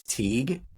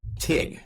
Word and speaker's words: Teague: pronounce my name in Western Pennsylvania phonetically like phonetically my name is TE but in Pittsburgh they say TIG like T because if you hear if you